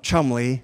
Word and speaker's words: Cholmondeley: The ones that they chose, the first, the Jolly Earl of Cholmondeley, that's actually how you say it, if you look at it, nothing like what it looks like, taught us to